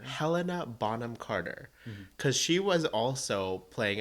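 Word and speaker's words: Helena Bonham Carter: botom Carter her real name is harder to pronounce than Bellatrix lrange can you say it again Helena bonam Carter Helena bonam Carter cuz she was also playing an an hinch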